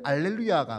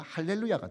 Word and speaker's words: 할렐루야: 원래는 알렐루야가 맞는데 히브리어 특징이 이 아 발음이 가장 첫 번째 문장 앞에 들어가면 하로 발음이 바뀝니다. 그래서 알렐루야라는 단어가 할렐루야가 되어지는 겁니다.